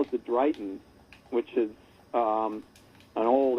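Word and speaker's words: dryghton: dragon well yeah it's spelled d r y g h t o n and so it's one of those old you know probably they pronounced it dribbon but um the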